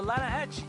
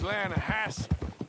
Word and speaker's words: Lanahatchee: You mean the Lanahassee River? No. The Lanahatchee. It runs right near here. Yeah, but it's pronounced Lanahassee.